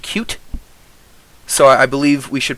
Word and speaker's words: Qt: Kyle here has led me to believe that it's pronounced cute, so I believe we should probably stick to that pronunciation of it.